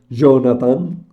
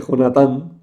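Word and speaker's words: Jonatán: nos lleva a nosotros utilizar la pronunciación Jonathan cuando en español se dice jonathann que es más cercano al hebreo por lo menos en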